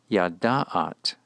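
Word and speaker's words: ידעת: Thus, for the verb yada, to know, to address a woman and say you know or knew, the pronunciation would be yada'at, yada'at.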